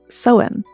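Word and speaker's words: Samhain: and northern France they celebrated a festival called soen which is spelled s m ha a i n but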